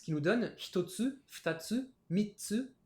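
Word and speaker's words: 三つ: nous donne hitotsu, futatsu, mitsu, yotsu, itsutsu, mutsu, nanatsu, kyatsu, kokonotsu. Alors vous voyez, pour 3, 4, 6 et 8, on a une petite pause qui se rajoute dans la prononciation.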